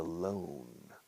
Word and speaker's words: loan: Escrito loan, como barco, boat, se pronuncia boat. Camino, road. Loan, escrito loan, pero se pronuncia loan. A loan, un préstamo. Suena igual que estar solito.